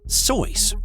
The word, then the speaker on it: Seuss: Seuss, used his mother's maiden name as his pen name, but it's truly not pronounced Seuss. Instead, it's supposed to be Soyce, rhymes with voice.